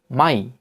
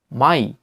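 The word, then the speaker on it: Mai: এবং যার উদাহরণ হচ্ছে এম আ ই, মাই মাই। এটি মেই নয়, মাই, যার অর্থ হচ্ছে মে মাস, মে মাস।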